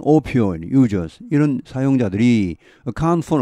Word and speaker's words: opioid: 발음은 opioid users, 이런 사용자들이 account for 얼마를 차지하답니다.